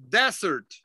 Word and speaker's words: desert: The one with the two S's is pronounced dessert. Now, this one here is pronounced desert.